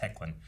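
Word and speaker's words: Hoechlin: thampi says what are your thoughts on tyler hecklin and that's how it's pronounced thank you for giving me pronounced heclin uh clark superman the suit is great as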